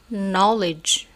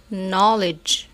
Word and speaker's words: knowledge: نيل داون، نوك knock، knowledge knowledge. إذن نلاحظ أن هذه المجموعة الثانية من الأمثلة لم ننطق فيها حرف كي، ونلاحظ أن الحرف كي في كل كلمات متبوع بحرف ان.